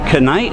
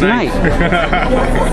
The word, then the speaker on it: knight: you don't pronounce it what do you need the k in front of knight right it's supposed to be is it cannite no it's night night you have day